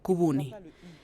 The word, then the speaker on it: Kubuni: ¿Y por qué no se dice la U francesa, sino la U, Kubuni?